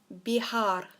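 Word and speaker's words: viajar: the verb to travel be hard so remember the v is some pronounce of a B and the J is a H be hard now what I want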